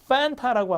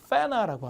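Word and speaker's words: Fanta: 근데 이거 미국 가니까 환타가 아니야. 발음이 이렇게 돼서 엔다메 T 발음이 약해서 애들이 환타라고 하니까 못 알아들어요. 그래서 미국 애들이 이걸 팬타라고 하거나 페나라고 하더라고요. 엔다메 T가 약해서.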